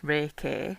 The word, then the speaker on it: Reiki: So Reiki is a word pronounced Reiki. R A Y K E Y.